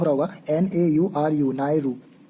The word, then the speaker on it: Nauru: World bank का जो latest member है वो 189th मेंबर है और वो है नाउरो। हालांकि प्रोनाउंसिएशन मेरा गलत हो रहा होगा, NAURU, नायरू, जो जुलाई 16 में वर्ल्ड बैंक का हिस्सा बना है।